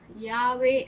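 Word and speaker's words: Yahweh: எகோவா என்கிற நாமத்தை அதை அவர்கள் யாவே அப்படின்னு சொல்லி அழைப்பார்கள்.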